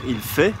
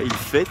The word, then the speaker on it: il fait: Donc si par exemple on dit en anglais he's doing, en français on va dire il fait et pas il fait. On va pas prononcer la lettre finale.